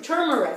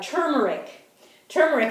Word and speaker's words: turmeric: Now I use turmeric. I pronounced it wrong. Now I use them in combination because I learned that in order for the body to absorb I have to say it right, turmeric.